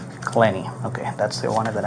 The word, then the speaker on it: Clenney: And your last name, how do you pronounce it? Clenny. Clenny.